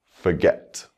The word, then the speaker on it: forget: a new work forget forget the stress is on the second syllable now we'll add a